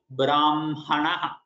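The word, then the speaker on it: ब्रह्मणः: With Makara half and then Hakara following in full.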